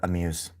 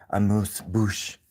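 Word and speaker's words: amuse-bouche: I used to work at a restaurant called Amuse. Because in uh French, it was a French restaurant, French cuisine. And amuse, it's not pronounced like that. I think it's a moose. A moose bouch.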